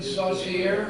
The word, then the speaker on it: Saucier: also the Phillies closer Kevin Saucier, is that how you pronounce it? S-A-U-C-I-E-R, you're nodding, that's good.